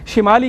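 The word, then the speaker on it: شِمال: بالکل جی ہاں، شمال، حالانکہ اصل لفظ جو ہے وہ شمال ہے، شین کی زیر کے ساتھ۔ اب اردو کے اندر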